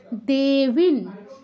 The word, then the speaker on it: देवीं: দেবিন, দুটোই দীর্ঘ আছে। দেবী, এতক্ষণ আমরা কিন্তু দেবী রস পড়ে এসেছি, বয় রস্য ইকার। এখানে এসে দীর্ঘ, এটা আমরা খেয়াল করে উচ্চারণ করতে হবে। এতক্ষণ যেহেতু রস উচ্চারণ করে এসেছি, এখানে এসে অসুবিধা হতে পারে। দেবিন, দেবিন অনুসারের জায়গায় আবারও নয় হসন্ত, যেহেতু পরে দন্তস আছে।